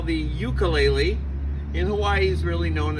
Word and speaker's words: ukulele: it the jumping flea, which in Hawaiian is pronounced ukulele.